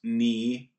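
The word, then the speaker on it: に: 23 is significant because in Japanese language, the number 2 is called ni, or pronounced ni, and the number 3 is pronounced san.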